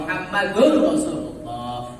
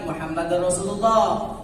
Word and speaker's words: Muhammadur Rasulullah: baik la ilaha illallah Muhammadur Rasulullah. Jangan Muhammadar Rasulullah. La ilaha illallah Muhammadar Rasulullah. Ini pas tidak ditelinga bacanya.